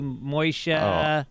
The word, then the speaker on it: Moshe: mispronounced in your life moishe moisha moisha i don't even mind moisture sounds like mois is not truly a mispronunciation it's like uh it's a it it's a yiddish pronunciation so it feels like i'm talking to an old uncle except if the person's